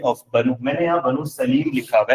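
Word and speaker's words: سليم: Okay sir सालिम हुआ, वही बात होगी, ठीक है। इसको असल में अरबिक वर्ड है ना, प्रोनाउंसिएशन अगर आप करते हैं तो सुलैम वर्ड बनता है, लेकिन सालिम भी ठीक।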